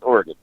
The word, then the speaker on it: Oregon: It was the Oregon Trail, so I'm reckoning it's Oregon. Is it? How's it spelled? G-O-N or G-U-N? G-O-N. Oregon. No, it would be Oregon. There was an E on there. Oregon. It's Oregon. Gun. It's Oregon.